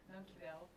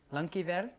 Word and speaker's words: Dankjewel: Dankjewel. Dankjewel. Dankjewel. Like die? Dank. Yeah. Jawel. Dankjewel. Dankjewel.